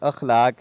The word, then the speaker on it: اخلاق: جی یہ لفظ اخلاق ہے، الف کے اوپر زبر ہے.